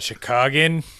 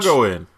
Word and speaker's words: Chicagoan: That's not Chicagan. Chicagan? Chicagan? Is that Chicagoan. not what their accent is? I thought it was Chicagan? Chicagoan. I mean, Chicagoan makes sense. But Chicagan is great. Man, 4 syllables. Too many.